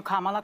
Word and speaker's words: Kamala: Kamala, and I'm calling you Kamala because for all of those who are mispronouncing it, I want you all to know how to say it.